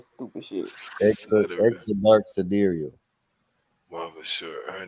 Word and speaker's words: sidereal: It's pronounced sidereal. Like I said, sidereal. Mm. It look like side rail to me.